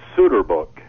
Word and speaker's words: Soeterboek: It's Soeterboek. Soeterboek. You guys were so close. You had it. Why don't you just spell it Soeterboek?